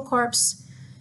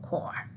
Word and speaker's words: corps: core so please I don't want to hear Kenny cultural corpse because we're not a dead body it's CUNY cultural core ok so here's a